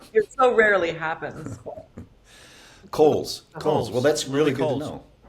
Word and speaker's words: Cowles: You know, it's Cowles. Oh, Coles. Coles. God. father Well, always then spell it like Coles, okay? My father used to say, would you say Camilla Parker Bowles?